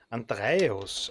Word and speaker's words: Andreios: Andreois heißt nicht Andreois, sondern Andreios. Andreios.